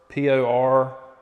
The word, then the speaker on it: Portoro: The countertop color in there, I think it's pronounced Portoro, P-O-R-T-O-R-O, Portoro, if you were curious about that.